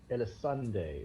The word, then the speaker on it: Dyrecinder: In Dyrecinder, is that how it's pronounced?